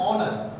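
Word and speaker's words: honour: एन ऑनर, एन आयर, यहाँ पे हम देख रहे हैं एच हमारा क्या है, ऑलरेडी साइलेंट है, इसलिए हम लोग यूज एन।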